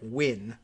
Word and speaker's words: Nguyen: jeremy bravo lindsey nguyen uh n-g-u-y-e-n win the uh i think one of the more common is it vietnamese surnames and i think i've learned that that's just pronounced almost exactly like win so jeremy bravo lindsay